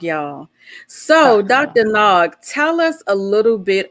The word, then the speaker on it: Nag: i say it right say your name for me there you go it's dr nog y'all so dr nog tell us a little